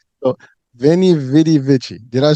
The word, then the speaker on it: Veni Vidi Vici: So Veni Vidi Vici.